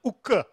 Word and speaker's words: ukku: Kannada, ukku steel, and ukku could not be pronounced by Europeans, so they said wuk and wuts, and finally became wood steel, which looks vaguely Germanic.